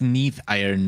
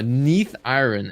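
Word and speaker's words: Neathiron: 59 for huh yeah it's Neath iron M this is not aarian from Black Wing oh Neath iron excuse me excuse my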